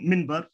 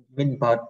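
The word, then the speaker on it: منبر: Mimber, ai đọc minber, có ai đọc minber đâu, mình nói minber ai không, thấy không anh? Dạ, thì mình bớt, dạ, mình bớt. Mình bớt, nếu đọc là nó mình bớt. Ngay cả người Ả Rập đọc bình thường, người Ả Rập cũng nói mình bớt, người Ả Rập đọc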